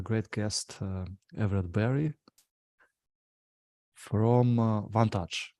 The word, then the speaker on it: Vantage: And today we have a great guest, Everett Berry from Vantage, right? Or did I pronounce it right? Vantage.